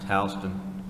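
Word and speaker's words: Houston: one quick in in Georgia h HST is pronounced Halston milin is brother Milan is pronounced milin and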